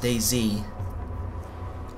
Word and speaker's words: DayZ: But I think it's meant to be pronounced DayZ. You know, kind of like the flower.